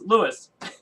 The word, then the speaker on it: Louis: his name and then you're like no it's Lewis yeah like um I I think it's when they were doing their research on me um in the Philippines they were calling me Luis because I don't think Lou is in their